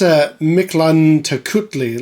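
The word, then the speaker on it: Mictlantecuhtli: We almost completely nailed it 45 years ago. I think it's Miklantikutli.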